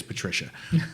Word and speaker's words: Patrizia: And his wife, it's spelled Patrizia, but I think it's Patricia.